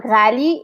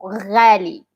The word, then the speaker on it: ghali: No, it's um the gargling sound is like the gha sound. Like uh this like g h is like gha So, for example, ghali it's mean expensive.